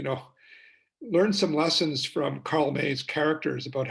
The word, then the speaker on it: Karl May: There was a German author by the name of, what was his, you know, Karl May. It's how it's pronounced in German, M-A-Y, or Karl May.